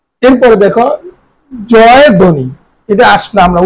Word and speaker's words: জয়ধ্বনি: এরপরে দেখো জয় ধ্বনি, এটা আসলে আমরা উচ্চারণ করি জয়ধ্বনি, জয়ধ্বনি, জয়ধ্বনি।